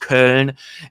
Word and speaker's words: Köln: Additionally, more than 60 individuals in Cologne, and it's pronounced Köln, and several others in Vienna, Wien, and Amsterdam